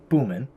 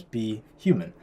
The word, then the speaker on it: BHuman: pronunciations so for example be human normally You' pronounce it if you just read it phonetically boomman right but we want to pronounce it as be human so I had to